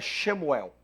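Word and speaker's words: שְׁמוּאֵל: olhar a tradução da palavra Samuel em hebraico shemuel Xel do jeito que a gente pronuncia shemuel Samuel significa nome de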